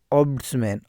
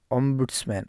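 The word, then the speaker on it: ombudsman: है उसको बोलते हैं ओसमैन ओसमैन ओंबड्समैन ओसमैन कोई एम का उच्चारण करता है कोई नहीं करता है ऑब्स मैन कोई बोलता है ओड्स मैन ठीक है ना आप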